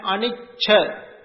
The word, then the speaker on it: anicca: Anicca and anicca. When you write, you can see the difference. But when you pronounce, sometimes you can understand this. Anicca and anicca. A-N-I-C-C-A is anicca. That means impermanence.